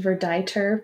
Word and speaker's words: verditer: a little bit tricky oh it's pronounced verditer blue yeah i have no idea so verditer that's the color